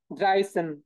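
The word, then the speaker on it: dreizehn: তাইলে দেখেন three plus 10 তাইলে কি হবে ড্রাইসেন ড্রাইসেন ড্রাইসেন ওকে ড্রাইসেন ফাইন এবার সেইম ওয়েতে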